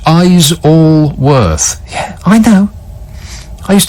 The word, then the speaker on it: Isleworth: Isleworth, which is helpfully written on my screen, pronounced Eyes-all-worth.